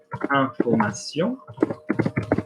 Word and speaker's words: information: So for example, if I said information, which can be singular or plural in French, okay, or informer, verb, informer. I'm saying the A like I had in le vin.